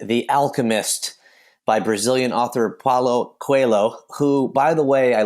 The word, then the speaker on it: Paulo Coelho: Okay, it is indeed The Alchemist by Brazilian author Paulo Coelho, who, by the way, I looked up how to pronounce his name online, and every single website and YouTube video has a different pronunciation of it.